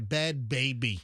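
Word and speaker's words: Bhad Bhabie: So, she goes by bad Barbie. Baby, I'm sorry. Bad baby. But it's spelled like like a B h a b i e.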